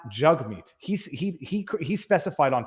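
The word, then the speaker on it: Jagmeet: Gade in Rumble says Jag meat not jug meat no his name his name is pronounced jug meat he's he he specified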